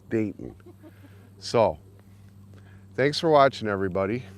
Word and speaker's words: Dayton: And that was Dayton, not Dalton. I was mispronouncing his name. It's Dayton.